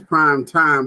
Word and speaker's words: Prime TImE: fine another additional prime time some of you out there reading that you think it is prime time but see the m is silent and the m is small because in life sometimes